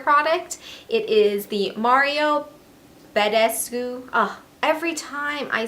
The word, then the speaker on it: Badescu: It is the Mario Badescu. Every time I say his name wrong. Badescu.